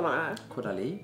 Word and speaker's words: Caudalie: Och sen då, hur uttalade man det här? Caudalie. Caudalie, man säger så.